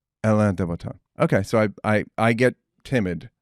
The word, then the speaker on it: Alain de Botton: I don't know how to pronounce it. And it's a weird name. Alain de Botton. Alain de Botton.